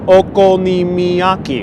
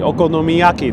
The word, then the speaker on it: okonomiyaki: from eastern europe and donald comes with the pronunciation okonimiyaki okonomiyaki oh thank you so much okonomiyaki thank you